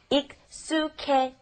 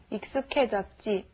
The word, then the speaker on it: 익숙해졌지: All right, watch your pronunciation when you're saying used to. You want to say it exactly like this. 익숙해졌지. Okay, try that. 익숙해졌지. 익숙해졌지. Good. But be sure to say K instead of he.